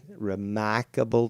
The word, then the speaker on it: remarkable: how do you say remarkable there's no R there you end things with r but you don't insert the R so remarkable you know